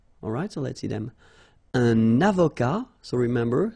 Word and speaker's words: avocat: Un avocat, so remember, liaison here, and then final T not pronounced, okay?